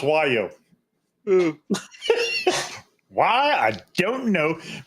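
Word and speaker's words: Wallior: Wallier, right? No, wrong. It's pronounced Wo. Why? I don't know. But that's a French pronunciation.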